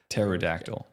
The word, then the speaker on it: pterodactyl: How do you even pronounce that? Pterodactyl. The P is silent of Nebraska.